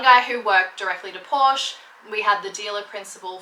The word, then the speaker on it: Porsche: I should actually say Porsche because that's how you pronounce it, but I've always said Porsche.